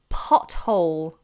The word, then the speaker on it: pothole: if it's voiced okay there are very few occasions where a th is not pronounced in this way for example the words Thames like the river in London pothole Thomas which is a boy's name and Theresa which is a girl's name now these particular example